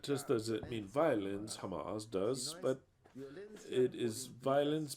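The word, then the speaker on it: חמס: in Hebrew is age 2555 and it is pronounced as Hamas that is violence Hamas so then we've started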